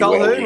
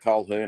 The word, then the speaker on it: Colquhoun: I'm not sure how you pronounce his name. Colquhoun, Hazelton. That's Hamlin, it, Colquhoun. Well done. Well done. Okay, yeah. So yeah, bang on. Okay, Colquhoun, Hazelton, Hamlin, Ueli, and Rudolph.